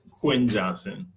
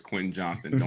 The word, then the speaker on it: Quentin Johnston: can say his name you're wrong it's Quinn Johnston this one's interesting Will